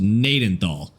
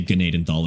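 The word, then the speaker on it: Gnadenthal: It's pronounced Nadenthal. The G is silent. But you could say Gnaden thal if you wanted to.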